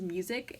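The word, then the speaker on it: Muzik: and I'm pretty sure the way he pronounce the album is music it's m u z i k oh this this was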